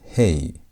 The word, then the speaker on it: he: Letter number five on the Hebrew alphabet is hey. Hey. And hey has a sound of h as in hey or how. That h sound is what hey sounds like.